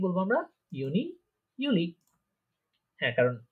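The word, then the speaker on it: Juli: তারপরে দেখেন June জুলাই, এই দুইটা উচ্চারণ হবে ইউনি ইউলি। ইউনি ইউলি। হ্যাঁ, জুন জুলাইকে কি বলবো আমরা? ইউনি ইউলি।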